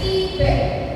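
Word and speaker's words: Québec: Pernah dengar tulisannya? ya bacanya kibek.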